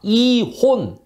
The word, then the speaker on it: 이혼: 받아들였다 해서 함경도 변마사 이혼 이거 발음 잘하셔야 되요 옛날 조선시대 위원 했다는게 아니고 이 혼 이라고 하는 병 마사의 군대를